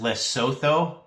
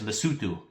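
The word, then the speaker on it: Lesotho: You would think it's pronounced less so but it's lutu.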